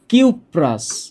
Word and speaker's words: কিউপ্রাস: এখানে বলতে হবে কিউপ্রাস, নামটা হচ্ছে কিউপ্রাস, আর এইখানে নামটা হচ্ছে কিউপ্রিক। কিউপ্রিক। তাহলে নামের শেষে উচ্চারণটা হচ্ছে আস।